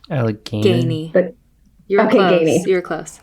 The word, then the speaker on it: Allegheny: Allegheny.